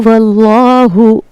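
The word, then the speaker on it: ٱللَّه: जैसे कुलूहु व्लाहु व्लाहु अल्लाह के लाम को हमने ला नहीं पढ़ना बल्कि लौ पढ़ना है।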